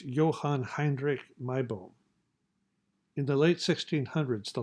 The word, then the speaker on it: Johann Heinrich Meibom: Note that the German pronunciation of this individual is Johann Heinrich Meibom.